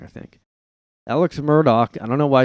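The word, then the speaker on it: Murdaugh: family another Law Firm family like the Alex Myrtle Murdoch I said it wrong I think Alex Murdoch I don't know why it's pronounced like that because it's like d-a-u-g-h yeah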